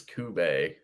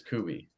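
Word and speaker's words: Kubey: That's how somebody says it. I forget who it is. Kube. That's wrong to me. It's Kubi. Kubi.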